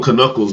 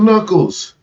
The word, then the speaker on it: knuckles: sun came out yeah i used to call them kanukkuls back in the day when i was a kid because i couldn't read right i mean that makes sense silent k right i mean i didn't